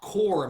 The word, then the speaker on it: corps: Then there's also the word core, which is spelled C-O-R-P-S. The P and S are silent because it's French. Now, core means body, but like an organization.